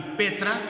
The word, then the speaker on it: Petra: griego significa significa piedra que se pronuncia petros qué es una piedra chiquita y petra que significa una piedra grande una roca entonces en la traducción